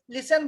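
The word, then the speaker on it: listen: इसका य साइलेंट कातक जैसे लिसन में ए आई एस टी एन होता है लेकिन उसको न लिसन बोलते हैं टी का उच्चारण नहीं करते हैं वो जो है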